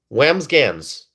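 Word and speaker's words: Wambsganss: Whamsgans. That's the last name. It took me It took me a while to figure this name out. Okay. It's Whamsgans.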